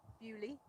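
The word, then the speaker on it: Beaulieu: And Bewley.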